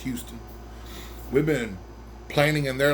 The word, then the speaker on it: Huston: It's spelled like Huston, but it's pronounced Houston.